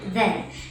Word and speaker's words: then: But when these words are stressed, they are pronounced than, then, than, then. So than has the long ah sound, than. And then has the reduced schwa sound, then.